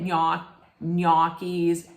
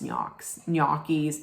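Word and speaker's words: gnocchi: to say it most people would say it NIS nois nois but they're yies g n o c c h i I think you know what I mean it'ss yis Ando so there we go okay and I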